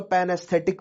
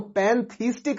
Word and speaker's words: pantheistic: तो यहां पर दो चीजें हैं, एक तो पैनएस्थेटिक व्यू, ठीक है, मैं गलत प्रोनाउंस कर रहा हूं, पैनथीस्टिक व्यू है ये, राइट, इट इज पैनथीस्टिक व्यू।